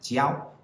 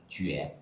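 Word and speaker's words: 觉: Here's number seven, which can be pronounced jiao, or it can be pronounced jue. If it's jiao, it's from shui jiao, which means to sleep. And if it's jue, it means to feel, from jue de or gan jue.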